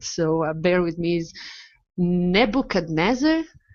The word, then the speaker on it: Nebuchadnezzar: the ship I'm not sure if I'm GNA pronounce this right so bear with me is Nebuchadnezzar Nebuchadnezzar yeah you got it yeah okay thank God